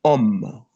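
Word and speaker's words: homme: You see most of the English words is the same with the French word but the only thing is the pronunciation. Then we have om.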